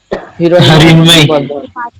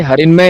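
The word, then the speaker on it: হিরণ্ময়: क्या नाम था? हिरण्मय। अरे हरिन्मय नहीं, रिन्मय।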